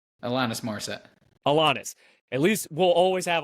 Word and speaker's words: Alanis: Alanis.